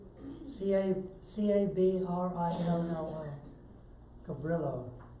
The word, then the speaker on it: Cabrillo: be our module no Cabrillo except it's pronounced over the Brio is in the town